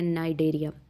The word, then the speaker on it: Cnidaria: इसमें सी साइलेंट है तो आपने एन का साउंड देना है, नाइडेरिया, ठीक है।